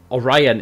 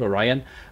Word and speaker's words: Orion: Now, Orion is actually the name of this legendary lord, Orion, but me being the Welsh person that I